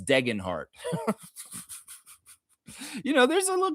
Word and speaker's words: Degenhart: they were calling Tyson Degenhart Degenhart. Degenhart. Degenhart. Man, bro, you obviously never watched Boise State basketball announcer for the Skyhawks because his name is not Degenhart, it's Degenhart.